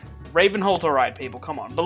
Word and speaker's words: Ravenholdt: I don't know if the T is silent. I make the T non-silent. Ravenholdt, alright people, come on.